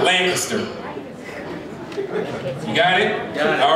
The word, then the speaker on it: Lancaster: He said Lancaster, that's not how the people say it. We're going to Lancaster.